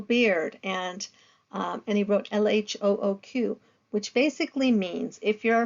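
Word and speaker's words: L.H.O.O.Q.: speaker and I'm not if you say l h o o q a certain way it sounds like she has a hot ass so it's ironic because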